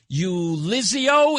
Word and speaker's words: Ulizio: And we have another guest from Forever in My Heart Foundation, Ulizio, if I'm pronouncing it correctly? That's perfect.